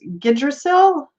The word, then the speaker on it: Yggdrasil: Odin on the, oh, I can't pronounce this, Yggdrasil? I know the Y is kind of silent.